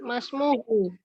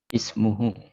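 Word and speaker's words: اسمه: Gimana bacanya ini misalnya? Ya. Masmuhu. Loh, kok Masmuhu mana namanya nggak ada kok? Ismuhu.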